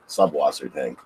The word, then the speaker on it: Subwassertang: Is it Sawassertang? Is that how you pronounce, or are we? I pronounce it with a B, Subwassertang.